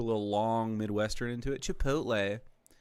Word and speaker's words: Chipotle: Just look at how it's spelled, please. All Caucasians, just take the time. Chipotle. Uh, you know, you have to say, you say it flat as Chipotle.